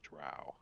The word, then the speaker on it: drow: says and he says he says it rhymes with cow I go with uh what the author says and he pronounces a drow how do you guys